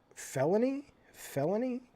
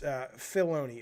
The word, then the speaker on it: Filoni: Felony? Dave Felony? Just say it again, Jaffe. Say the name over and over. Oh, you're spelling his name wrong. It's Filoni. Okay, he's the dude, the Star Wars dude.